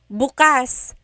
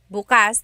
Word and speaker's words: bukas: If you say bukas, bukas, the emphasis is on the second syllable, that means open. If you say bukas, bukas, emphasis is on the first syllable, that means tomorrow.